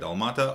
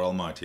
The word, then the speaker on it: Almaty: How to say it? Almata or Almaty? Almaty. Almaty. Yeah.